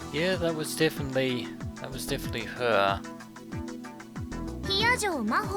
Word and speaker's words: Hiyajo Maho: Hiyajo Maho って読むの。